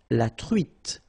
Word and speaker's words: truite: nose, nasal, on, espadon, la truite, same thing here, final E not pronounced, T, la truite, le maquereau.